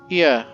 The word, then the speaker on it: Ia: When the vibration of vocal folds was still required to convey our thought and intention, Ia, I believe, was the pronunciation used when referring to our people.